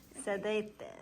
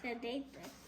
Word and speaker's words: sedete: Sedate. Sedete. Let's just write it. It's all about You know how to spell it?